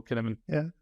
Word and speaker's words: Cynefin: But yeah, that's how I pronounce it as well, kəʻnɛvɪn.